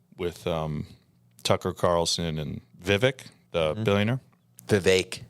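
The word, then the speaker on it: Vivek: um Tucker Carlson and Vivic the billionaire Viv Viv rhymes with cake I love cake oh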